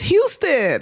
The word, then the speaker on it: Houston: Baby, that's Houston, okay?